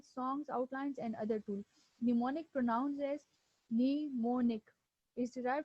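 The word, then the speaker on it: mnemonic: है okay what is निमोनिक इसमें जो एम है वह नीचे वाले यह काम जो है वह साइलेंट है को भी मोनिक अलसो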